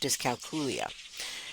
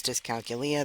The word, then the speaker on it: dyscalculia: would use the phrasing dyscalculia so you will hear pronounced in both ways because it was introduced to me as discogelia that really got stuck